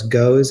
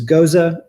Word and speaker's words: Gose: similar um especially because some people pronounce the name of this style as goes instead of goza but it is goza and goose and uh the biggest